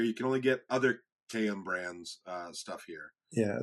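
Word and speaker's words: Kayem: I know it's k a yeem but it's pronounced km so they have a natural casing all not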